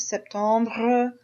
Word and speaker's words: septembre: And you can also say these with more of a R sound at the end, septembre, octobre, novembre.